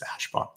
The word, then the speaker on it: Ashbaugh: use my last name which by the way he pronounced Ashbaugh nobody asked but I'm sure that's a frequently asked question it's Ashbaugh all right so on the whole end of its silent but what I did